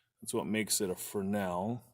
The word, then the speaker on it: Fresnel: here it's called a fresnel f r e f-r-e-s-n-e-l it's french that's why it has a silent s there a fresnel is a